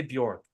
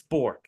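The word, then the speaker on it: Bourque: there Maverick Bor I his name is spelled Bor but people say bork York and now I say Bor bork but I think it's bour and he's great and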